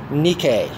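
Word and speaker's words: Νίκη: chief should I prefer the original Greek pronunciation nikkei it means victory victory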